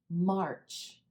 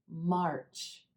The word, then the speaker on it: March: into the ER sound you want to make sure you're pronouncing that ah before you pronounce the ER the tendency for a